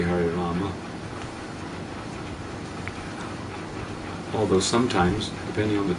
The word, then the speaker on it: Rama: But, you know, I think the preferred thing is Hare Rama. And that's the original Sanskrit. And the Ma is pronounced in Sanskrit. In the other languages, the Ma may not be pronounced Hindi or, you know.